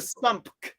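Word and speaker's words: SUMC: That's the sump. The correct Sony pronunciation.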